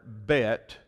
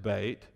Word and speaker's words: Bet: But notice the first letter in your Bible, it is the letter Bet, and some pronounce it Bait.